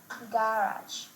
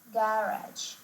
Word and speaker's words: garage: Some words, particularly those of French origin, are emphasized differently in American English, with the last syllable stress in American English and the first syllable stress in British English.